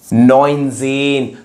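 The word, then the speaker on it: neunzehn: आन 19 क्या था 10 + 9 तो क्या हो जाएगा नाइन पहले बाद वाला न और 10 ज़ेन नजेन तो ये है 19 तो चलिए अब 20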